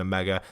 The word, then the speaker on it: Omega: They're advertising the film for Carbide and a mega.